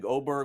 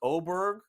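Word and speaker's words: Åberg: but look out folks oberg I know spelled with an A but pronounced with an O looks to be one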